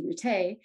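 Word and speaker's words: Routté: So while traveling in Mobile, Alabama, Reverend Jesse Rute, that's how he pronounces his last name, decided to pass as a South Asian.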